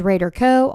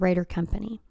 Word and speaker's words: RaderCo: I also say, it also has, my company is RaderCo, all one word. It is not Rader Company.